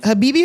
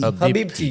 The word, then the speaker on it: Habibti: Habibi or Habibti? Habibti.